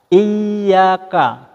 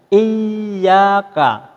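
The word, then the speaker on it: إِيَّاكَ: Nah, sedangkan ini yang tanda bacanya di atas ya, Iyyaka. Jadi, ditahan sejenak dan agak ditekan. Jadi, Iyyaka.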